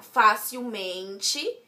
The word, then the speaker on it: facilmente: Ao juntar com o mente, o acento se mantém no Fá. Então, vai ficar facilmente. Em facilmente, Fá não é nada, não é paroxítona, não é nada. Mas é a sílaba mais forte e como a sua raiz já era acentuada, ela continua acentuada. Certo?